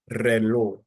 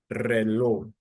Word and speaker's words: reloj: For example, the word reloj, reloj, reloj. So re would be the first syllable and then lo the second syllable. So you start down here, then you ascend. Reloj, reloj, reloj.